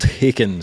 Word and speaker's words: Haken: Oh, the old Haken story. Haken. Rhymes with bacon.